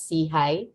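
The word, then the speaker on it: SIHI: innovation in health initiative or we pronounce it as see high global network and of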